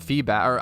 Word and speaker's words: Feebas: it's honestly Wicked interesting it's pronounced feeback I've Feebas I always say Feebas I I'm very whatever